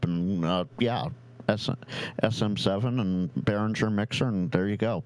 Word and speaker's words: Behringer: And it is Behringer, not Beeringer. Yeah. Whatever you want. I've heard it spelled both ways. I mean, the Germans pronounce it Behringer, so I'm just saying.